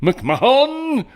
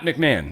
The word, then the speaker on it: McMahon: my brain it's mcmah McMahan McMahan it's not McMahon it's not I don't